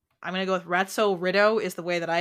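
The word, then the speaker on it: Ratso Rizzo: yes an acceptable pronunciation ratso rido Pest Control it's supposed to be ratzo Rizzo from the movie Midnight Cowboy okay and how many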